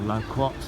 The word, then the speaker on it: loquat: have died anyway that's a low quack for 50 something else I see on the walk I'll obviously feature it or loquat if you want to pronounce it like my Australian friends like to say it I'll come back to